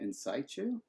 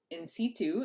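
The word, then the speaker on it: in situ: and means in place what was the awful pronunciation somebody had posted about in saichu yes yes situ I would understand more C2 is how it said but like saichu was inside you it was a a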